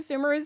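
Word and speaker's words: Sumeru: to stay away from sumerous City you know I know it's pronounced sumero it's Sumer to me I I just can't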